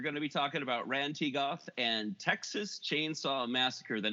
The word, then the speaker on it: Rhan-Tegoth: let you pronounce it because I can never pronounce it. Rhan-Tegoth. Yeah. Or what were you saying, DD? I'm sorry. Oh, I was saying the same thing you were. Yeah, I was saying Rhan-Tegoth.